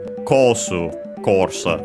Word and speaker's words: コース: Uh an accented uh course from English course accented by the way in the same uh way as English on the first syllable.